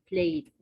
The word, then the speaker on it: played: not ed, the, or it, played.